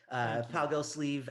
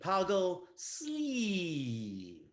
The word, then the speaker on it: Poggle Sleeve: It's a long E. Poggle Sleeve.